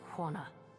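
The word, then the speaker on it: Huana: No, it is pronounced Hana.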